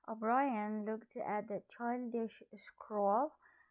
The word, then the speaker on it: O'Brien: upon it up ryan looked yes the correct pronunciation of this name is o'brien o'brien looked at the childish scroll a scroll means